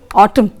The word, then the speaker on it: autumn: Next, N is often silent after M. In the word autumn, also in the word column, see, N is silent there.